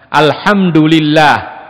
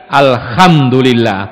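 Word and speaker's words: الحمد لله: Misalnya Alhamdulillah, itu pakai ha atau kha atau ha? Ha, ya, ha kha, jim ha kha yang tengah. Alhamdulillah, ini diganti Alhamdulillah pakai kha.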